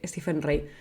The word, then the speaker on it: Stephen Rea: rea Rey stepen rea Rey se escribe rey rea pero creo que se se lee stepen rey que si le buscas